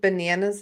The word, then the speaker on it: banana: I think bananas is the next one that would get schwabs. Okay. Banana. So only the last A.